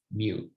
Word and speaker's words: mu: If the data are the entire population, then the mean is denoted by a Greek letter, and this is pronounced mu.